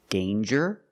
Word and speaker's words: danger: So with danger, we hear the j sound. Danger. There's no nasal sound. There's no m. It's a regular n. Danger with the J sound like jump and juice. Danger.